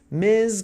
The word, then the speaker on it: Ms: Ms com som de Z.